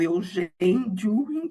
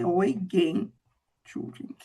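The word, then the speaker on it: Eugen Dühring: Eu leio Eugen Düring, mas a pronúncia é Eugen Düring, que nasceu em 1833,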